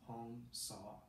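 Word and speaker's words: Hong Sau: And the mantra that's been used for thousands of years is Hong Saw. So Hong, like, rhymes with gong, and saw, as if you saw something.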